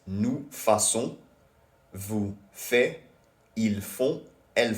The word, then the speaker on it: faisons: because it is spelled FAISONS. But adding this directly to the stem FAI would create something unpronounceable. So to fix this, an S is inserted in the middle, making the form faisons.